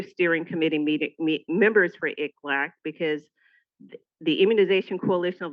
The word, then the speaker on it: ICLAC: Angeles has his acronym ik lack which nobody knows how to pronounce right so I'm gonna keep saying it so you guys get it it's like quack like a duck so it's it's like